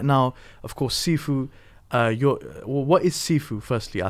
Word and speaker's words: Sifu: first of all, the Sifu, it comes from two syllables. The first syllable, Si, comes from the word Lo Si, which means teacher, and the Fu comes from the word Fu Chan, which means father.